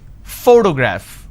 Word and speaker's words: photograph: here four to graph now pay attention when i pronounce this particular word photograph the correct pronunciation is photograph which means i'm stressing on this particular syllable which is the first syllable please give me the